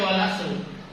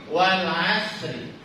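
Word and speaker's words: والعصر: Wak ya Bismillahirrahmanirrahim Wal Asri enggak boleh dibaca Wal asr kenapa I kenapa enggak dibaca Wal asru lupaakah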